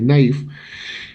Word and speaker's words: naives: B naïf o naives, se escribe naives pero se lee naïf.